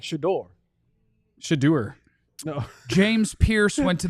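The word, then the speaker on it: Shedeur: It's not Shadur. Shadur. It's not Shadur. Let me see what we got here. Okay. At least more like Shadore.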